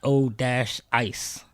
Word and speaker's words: V-O-Ice: It's VO Ice, but you can call me Voice.